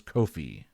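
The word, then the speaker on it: kōwhai: never heard of it it's spelled k-o-w-h-a-i but the pronunciation I looked up earlier was Kofi okay all right that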